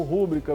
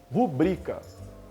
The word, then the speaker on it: rubrica: Quem já se acostumou a pronunciar como recorde ou como rúbrica vai estranhar.